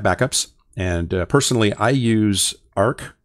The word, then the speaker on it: Arq: and personally I use ARC um arq is how that's spelled um and I have